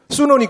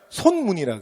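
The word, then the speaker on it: 孫文: 순원이 그 중국 발음에 비슷하게 표기를 한 거거든. 근데 우리 한자로 읽으면 손문이라 그래.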